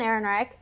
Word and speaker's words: Ehrenreich: Ron Howard and my acta was old and Ehrenreich I thought how you say it Erin yes okay old and Ehrenreich so Ron Howard is pretty much done a